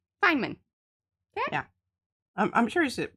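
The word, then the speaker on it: Feynman: knowledge okay so this Richard Fineman that's how you say that Fineman it's spelled f y n oh m a n Fineman yeah I'm I'm sure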